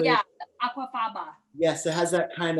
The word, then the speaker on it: aquafaba: one with the um what is it the agua faba i can never say it correctly yeah aquafaba yes it has that kind of um that